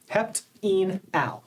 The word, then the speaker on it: heptenal: Each syllable is very descriptive and it's important to pronounce each syllable correctly. hept in al that's very different from hept and all. So we want to be very careful with our vowel sounds when we're pronouncing these names.